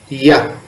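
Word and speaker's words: ياء: letter y in english pronounced as ya ya like the ruby you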